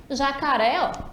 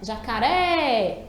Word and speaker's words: jacaré: Jacaré, também 3. Só que aí a tônica já vai ser uré. E além disso, ele está já identificado ali marcadinho com acento agudo, né? Jacaré. Tá vendo que a gente demora mais na última?